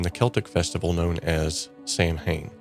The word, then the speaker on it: Samhain: Celtic festival known as Samhain. Now, it's pronounced so in the original dialect, but we're going to call it Samhain from here on as we are English speaking.